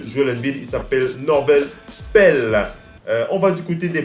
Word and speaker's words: Pelle: C'est Norvel Pelle, hein, c'est pas Pelle, hein, je prononce bien.